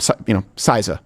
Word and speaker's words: CISA: CISA is how people pronounce it, okay?